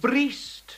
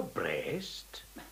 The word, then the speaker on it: breast: to thy loome Feast breest no breast I know it has to be read brist before it Rhymes but an Englishman says